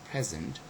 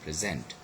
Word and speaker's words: present: So look at all those words: object, conduct, and present. And all of them, they are all nouns, and that's why the first syllable is stressed.